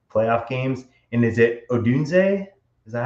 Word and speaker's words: Odunze: playoff games, and is it Odunze? Is that how you say it? Or how do you say his name? Go ahead, Chad. Yeah, Dunze.